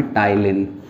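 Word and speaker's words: ptyalin: Amylase इसका दूसरा एक नाम है, टाइलिन, पी साइलेंट है.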